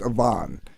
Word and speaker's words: Evon: o n like Evan but it's actually pronounced Avon because it's like Eastern European so his son Avon